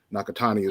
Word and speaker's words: Nakatani: i didn't mean to mispronounce the brothers name nakatani is the correct pronunciation now uh go ahead sent those take